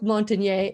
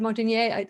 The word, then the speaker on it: Montagnier: Luc Montagnier and has collaborated the story that Judy says.